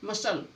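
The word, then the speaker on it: muscle: जब भी सी से पहले एस आए तो सी साइलेंट होगा। Scientific, scenery, मसल।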